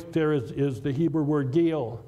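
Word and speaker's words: גיל: When God talks about his actions, the word rejoice there is the Hebrew word gil. Gil or gaul is another way to pronounce it.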